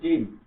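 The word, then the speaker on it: جيم: কি করব আমরা তার উচ্চারণ করব তারপর হচ্ছে জিম জিম জিম উচ্চারণ করবো কিভাবে?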